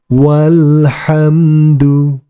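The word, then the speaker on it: والحمد: mengikuti bacaannya alhamdu alhamdu walhamdu walhamdu ingat huruf alifnya dianggap tidak ada kemudian kita lanjutkan ma'alhamdi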